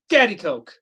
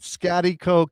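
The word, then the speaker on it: Schaghticoke: I gotta go with Scatty Coke. Okay. So, the Wikipedia pronunciation. Give Give me my flowers. I got it right. Scatty Coke.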